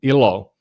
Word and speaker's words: Elo: But it also means, if you pronounce it like Americans do, ilo, it means happiness in Finnish.